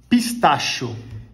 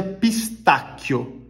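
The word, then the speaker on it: pistacchio: nesse caso seria calabresa pistacho gente Essa palavra não existe nem pistache na realidade o pistache na Itália a gente pronuncia pistaquio com dois cês h e o então se você por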